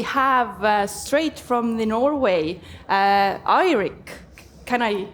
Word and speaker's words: Eirik: and then we have straight from the Norway irick can I pronounce it like this 100 perfect okay and